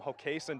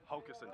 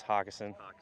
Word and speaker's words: Hockessin: Now, you're from Hockessin, Delaware. Hockessin, Delaware. Yeah. Okay, what's the worst mispronunciation you've ever heard of your hometown? Normally it's Hockessin, but how you just said it there was pretty bad too.